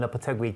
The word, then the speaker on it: Lopetegui: In between, just before Julien Lopetegui came on board. Oh, that was a lovely little pronunciation. Oh, thank you very much. Lopetegui.